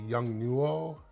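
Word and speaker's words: Yongnuo: i have one of these this is a young nuo is how it's pronounced uh light wand and this is the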